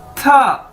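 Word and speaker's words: 他: तो दोस्तों उसके बाद हमारे पास नेक्स्ट वर्ड है TA, था। ये आप इसकी ब्रैकेट्स में प्रोनाउंसिएशन देख सकते हैं, यानी इसको कैसे बोलना है? था।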